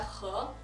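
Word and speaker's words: 和: 중국어로는 발음이 허입니다. 허.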